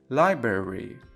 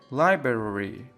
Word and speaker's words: library: دقت کنید نحوه تلفظ این کلمه به صورت لایبرری نیست. Library. Library.